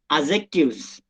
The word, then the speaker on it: adjectives: The correct pronunciation of this word is adjectives. Here, D is silent.